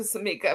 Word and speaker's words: Sammika: Sammika, if I'm saying your name wrong, please stop me and correct me, okay?